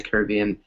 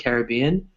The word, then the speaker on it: Caribbean: the Caribbean or or there's actually two ways to pronounce - Julie sorry so the way you pronounce it Caribbean or you said Caribbean right you can also say Caribbean it's actually more it's actually more American to say the way you said it Caribbean Caribbean Caribbean